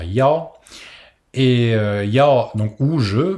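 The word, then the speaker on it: 幺: dire ou, Yao, Jiao, le 1 ici se prononcera Yao, et Yao, donc ou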